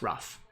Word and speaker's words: Ruf: stuff like this like for my name people are like is it or rough so I just put in a little thing hey it rhymes with stuff okay now you know it's rough small little things like